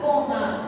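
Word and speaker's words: pohã: Pojá. Con acento nasal. Pojá.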